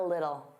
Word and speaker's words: little: Now, little native speakers, including me, generally pronounce the T's as soft D's.